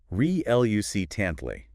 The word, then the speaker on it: reluctantly: R-E-L-U-C-T-A-N-T-L-Y. Reluctantly. 4 syllables. Stress on the second. Reluctantly.